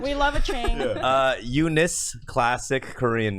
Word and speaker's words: Eunice: Hey, Eunice. I made lemonade. Yeah. If you're supposed to phonetically, read it out, it comes out to you nice.